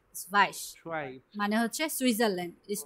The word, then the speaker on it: Schweiz: না, স্ভাইস, স্ভাইস Schweiz.